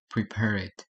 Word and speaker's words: prepared: But here the end word is not t or d. That's why we we should pronounce prepared with this and not with prepared.